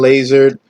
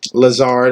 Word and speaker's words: Lazard: very very sneaky wide receiver to get allen laser um lazard as a if you want correct pronunciation this dude was coming on a little